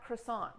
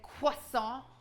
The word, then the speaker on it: croissant: Oh, are you here because we've been saying croissant? Yeah, you're saying wrong. Croissant. No. Jesus Christ. How do you say it? Croissant. Croissant. C'est croissant. Croissant. Croissant.